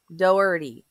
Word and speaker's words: Doherty: a second tea so the H is silent Doherty yes okay or they